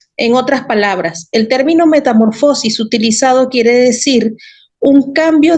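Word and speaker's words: μεταμόρφωσις: original es una palabra griega oyeron y se pronuncia metamorfosis ya dijimos que viene de dos vocablos meta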